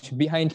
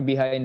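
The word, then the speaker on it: behind: বাহাইন্ড the scene, not বিহাইন্ড the scene.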